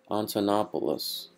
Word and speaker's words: Antonopoulos: And I know that the author, Antopoulos, I do want to pronounce his name correctly, Andreas Antonopoulos.